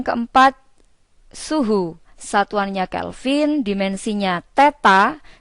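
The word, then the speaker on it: θ: suhu satuannya Kelvin dimensinya Teta jadi simbol ini membacanya adalah theta alat ukurnya adalah termometer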